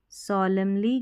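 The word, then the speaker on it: solemnly: अब यहाँ पर सॉलमली, MN में सॉलमली N साइलेंट है, सॉलमली, सॉलमली N साइलेंट है, ठीक है, सॉलमली गंभीरता से, प्रॉमिस, प्रॉमिस टू।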